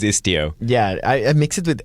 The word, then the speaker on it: Istio: I keep saying itzio, but it is istio.